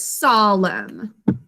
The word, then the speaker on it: solemn: again solemn with your marker in hand right solemn we're gonna think to spell this saul m